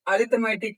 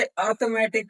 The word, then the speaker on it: arithmetic: इसको देखो बहुत से बच्चे अरथमेटिक कहते हैं। बहुत से बच्चे अर्थमेटिक कहते हैं। तो मैं उनको बता दूं यह अर्थमेटिक होता है। यहां पर आई जो है ये साइलेंट रहता है।